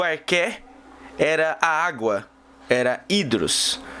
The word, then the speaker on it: arché: O arqué, ou arquétipo, pode se escrever assim, arché, mas ele é o arqué.